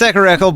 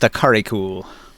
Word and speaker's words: Akarikul: It's Akarakel, but it's supposed to be pronounced Akarikul.